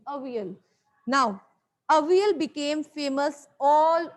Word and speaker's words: Avial: It was, they have given you the pronunciation, how to pronounce. It's Avial. Avial. Okay, this is the pronunciation, Avial.